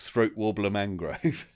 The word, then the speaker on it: Raymond Luxury Yacht: It's spelt Raymond Luxury Yacht, but pronounced Throat Warbler Mangrove.